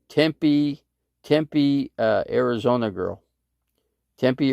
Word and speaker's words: Tempe: it like it sounds tempe is supposed to be tempe not tim pay people in tempe would be pissed if you call that city temp pay so pronounce it right